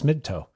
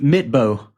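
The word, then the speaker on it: Midtbø: Did you call him Magnus Midtoe? Yeah. How do you say his last name? Mitbo. Mitbo? What did I say? Like a Magnus middle toe.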